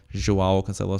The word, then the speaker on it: Cancelo: and that is while cancelo Consuelo sorry that's how you say it in Portuguese uh Consuelo again I